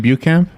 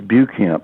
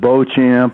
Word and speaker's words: Beauchamp: all came from, and I always heard it as Bucamp, but people are out in the hinterlands. They pronounce it Beauchamp and Beauchamp, and he didn't ever fight back.